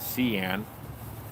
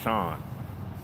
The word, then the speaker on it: Sean: And my name's not Cian, it's Sean. And that ends in an A and an N.